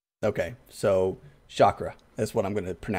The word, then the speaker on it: chakra: So you're going with chakra? That's how I've heard it. Okay, no, that's fine. I don't know. I honestly don't know. How is it spelled? It's spelled Chakra. It's pronounced chakra. Okay, so chakra.